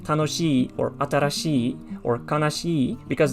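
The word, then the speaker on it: 楽しい: ending on she like tanoshi or atarashi or kanashii because there is a double e sound so you have to be sure to to lengthen the pronunciation otherwise something like pokemon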